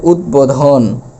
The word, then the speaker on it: উদ্বোধন: তাহলে এটার উচ্চারণ হল উদবোধন। অর্থাৎ বটা ভ্যানিশ হয়ে যাবে না। বর উচ্চারণ করতে হবে।